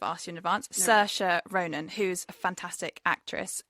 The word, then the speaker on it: Saoirse: Saoirse. Is that how you say it? Yeah. Saoirse.